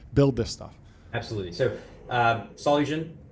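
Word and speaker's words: Solugen: So solen pronounced solen we got started in 2017 spun out of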